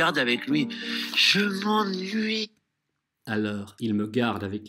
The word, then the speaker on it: je m'ennuie: Первый слог у нас «en» – это «а» носовая. «Je m'en», «je m'en», «je m'en». И потом уже звук «n». «Nui». «Je m'ennuie», «je m'ennuie». Так это произносится. Обычно двойная «n» – это исключение носовых, но не в приставках некоторых глаголов, как, например, «je m'ennuie» читается с помощью «а» носового. Будьте к этому внимательны, кто только и как только не ошибается в этом глаголе.